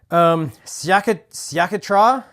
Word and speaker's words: Sciacchetrà: Sciacchetrà. It's spelled Sciacchetra, and then a little emphasis over the A at the end there.